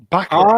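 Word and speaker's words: Ebon Moss-Bachrach: How do you pronounce Ebon? Ebon Moss Bacharach. Bacharach.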